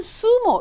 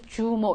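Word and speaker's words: zumo: 그니까 주스를 얘기하는 건데 걔네들은 수모 이렇게 얘기해요 그런데 이거 읽으신 한국분들이 주모 이렇게 많이 하시죠 그 그거는 영어 식으로 읽으신 거고 스페인어로는 수모가 된다는 거야 수모 혹은 수모 이렇게 쓰신다는 거죠 그다음에 이거요 뭐요 나오리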